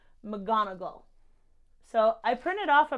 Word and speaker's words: McGonagall: know that last time I was pronouncing McDonald when I'm should have been saying McGonagall so I printed off